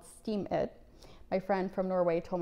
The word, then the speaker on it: Steemit: tell you about today is a website called Steam It. My friend from Norway told me about it. And it's spelled Steemit.